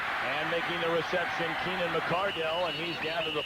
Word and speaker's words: McCardell: McCardell, the way he's played these last 2 years.